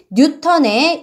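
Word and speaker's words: Newton: 어 힘과 관련해서 가장 위대한 업적을 남긴 과학자인 뉴턴의 이름을 단위로서 사용합니다 어 쓸 때는 알파벳 대문자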